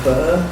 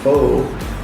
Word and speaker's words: Pho: a restaurant called Saigon Pho. Yeah. Of course, not knowing any different, we pronounce it Saigon Pho. You know, it's really Saigon Pho.